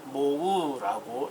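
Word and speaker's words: mho: 자, 읽는 법은 G라고 읽고요. 단위는 모우라고 읽습니다.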